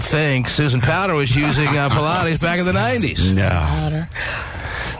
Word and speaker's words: Pilates: Yeah, like John Pilates or something. Just made it up. Okay, it's good for you. And he's like, my name is pronounced Pilots.